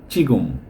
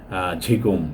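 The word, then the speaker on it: 지금: মত উচ্চারণ করে যেমন চিগগুম মানে এখন এইখানে কিন্তু জিও দেওয়া ছিল এটা ঝিগুম এরকম বলার কথা ছিল কিন্তু ওরা চিগগুম বলে এরকম ব্যতিক্রম কিছু উচ্চারণ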